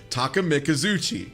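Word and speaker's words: Takemikazuchi: I will, however, equip the Takamizuchi.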